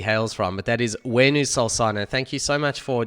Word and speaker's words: Huenu Solsona: Argentina where she hails from, but that is Huenu Solsona.